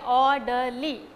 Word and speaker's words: orderly: the first syllable okay orderly it's a three syllabic word and the word ends with l y then the stress fall on the first syllable or orderly okay then